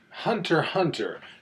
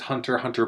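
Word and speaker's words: Hunter × Hunter: But no, you just leave them out completely.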